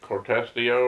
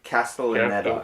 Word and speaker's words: Castellaneta: I don't know how to say it, Cortestio or something like that. Castellaneta. That's it.